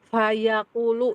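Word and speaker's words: فَيَقُولُ: Kemudian Bu, tidak akan sempurna harokat fathah ketika tidak dibuka. Contohnya fayaqulu ya.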